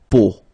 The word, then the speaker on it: peau: But then, so the sound that you will have to pronounce when you've got these three vowels combined together, it's the sound O. Okay, so really simple, O.